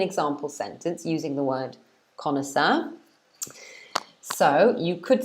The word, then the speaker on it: connoisseur: And this is pronounced, in English, it's pronounced connoisseur. Connoisseur. Okay. So it's 3 syllables, connoisseur.